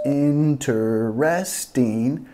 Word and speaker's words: interesting: no es como parece parece que tiene cuatro sílabas si tiene pero nosotros bajamos la segunda comemos la segunda silva no decimos interesting pero en triste en triste también nota que enfatizamos la